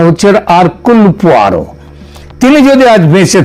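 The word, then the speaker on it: Hercule: Poirot এটা যদিও ওই উচ্চারু উচ্চারণে এটা হয় হারকিউল কিন্তু একচুয়ালি উচ্চারণটা হচ্ছে আরকুল পোয়ারো।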